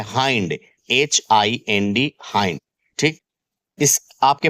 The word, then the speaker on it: hind: ठीक, सबसे पहले जो मेन टर्म है हाइंड, देखें इसे हिंड मत पढ़ना अन्यथा आपकी बेइज्जती हो जाएगी। इसका करेक्ट प्रोनाउंसिएशन होता है हाइंड।